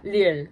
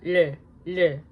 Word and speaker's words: 리을: Okay, yeah, 리을. It's very fun. I love pronouncing it. It's like a mixture between L and R. So yeah, 리을.